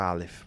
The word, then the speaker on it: Alef: assim já no nível a pronúncia da palavra Alef da letra Alef Alef é a primeira letra do alfabeto então al veja como eu modulo ela vem do gutural ela vem aqui do do peito a voz então primeiro